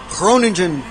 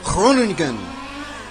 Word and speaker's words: Groningen: We got the quarterfinal A here in Groningen, Netherlands, at the Real 80 Model Car Club.